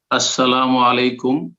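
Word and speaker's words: السلام عليكم: নেয়ার শুদ্ধ উচ্চারণটা একটু আরো একটা ছিল শুদ্ধ উচ্চারণ আসসালামু আলাইকুম এটা হচ্ছে সালাম 10 আসসালামু আলাইকুম ওয়ারাহমাতুল্লাহ 20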